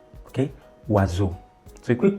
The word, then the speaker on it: oiseau: I'm pronouncing the S as Z because S is found in between two vowels.